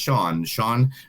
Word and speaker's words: Sian: You can find them online at Sean Sushi, which is SIAN, but it is pronounced Sean Restaurant.